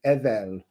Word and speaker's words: Edel: If you take off this here, you have the energy from Ing, you have Edel, or Odal as it's often pronounced, but in Anglo-Saxon English it's Edel.